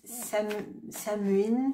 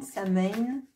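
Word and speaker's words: Samhain: d'un sabbat celt alors c'est samuin Samin ça dépend de comment on le prononce et moi je le prononce sans doute très mal et ça a été dérivé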